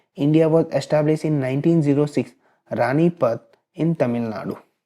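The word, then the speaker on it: Ranipet: Was establish in 1906 रानीपत इन तमिलनाडु। अब text book में PAT दिया हुआ है, जबकि अगर आप देखोगे इस स्पेलिंग को तो रानी PET दिया हुआ, रानी पैट भी बोलते हैं इसको।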